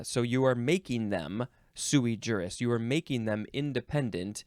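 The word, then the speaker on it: sui juris: parent uh suie jurus let me I pronouncing that correctly sui yeah you could also say sui Urus uh it means of age or independent the beneficiaries are all sui jurus uh they're all of age uh so you are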